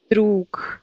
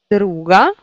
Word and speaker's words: друг: Et vous voyez qu'ici on prononce que, et ici on prononce g. Druk, druga.